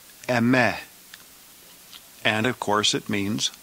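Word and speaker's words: ἐμέ: The singular accusative is the same word that we have in English, the word me, but we're going to pronounce it in Greek, me, me, or the longer form, eme.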